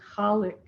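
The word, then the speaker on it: Khaliq: l i q and it's often pronounced colic but however you want to say it i'm going to say it colic because that's the way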